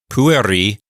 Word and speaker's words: pueri: the main action is pueri means boys notice I'm putting the accent on the first syllable it's not puer because that e is not long and it's not in a closed syllable so it's PU Pui